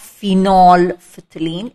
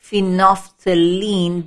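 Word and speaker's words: phenolphthalein: is known as phenophthalene it's not phenol phthalene it's phenophthalene the l here is silent also these are bonds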